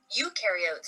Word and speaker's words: eukaryotes: Eukaryotes, on the other hand, remember eu rhymes with do, and they do have a nucleus, and other membrane-bound organelles.